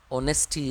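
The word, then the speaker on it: honesty: Honourable है, honorarium है, ऑनेस्टी है, इनसे पहले एन लगता है। ये शुरू भले ही वह कॉन्सोनेंट से है बट साउंड जो है वो ओ का है, एच यहाँ पे साइलेंट है।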